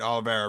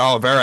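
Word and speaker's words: Oliveira: Uh well no he did he he did fight Alivera recently. I I had I mispronounced that. But um yeah he almost had Olivera out of there late in the the recent fight.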